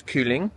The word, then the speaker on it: kylling: The word for chicken in Danish is kylling, starts with a K.